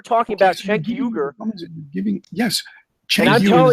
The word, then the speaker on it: Cenk Uygur: Cenk Uygur is actually pronounced Cenk Uygur, actually, I believe.